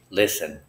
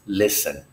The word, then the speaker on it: listen: listen the word listen the T is silent you do not pronounce the T and the I is a short I sound a listen it is not a